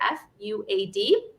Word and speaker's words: Fuad: guys can actually see his name is spelled up here f-u-a-d and it's pronounced fuad right yes it is so